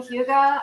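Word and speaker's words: hygge: that that Danish thing hyuga I'm so into that I read a book about it it's h-y-g-g-e another thing that's not pronounced the way it's spelled and I said oh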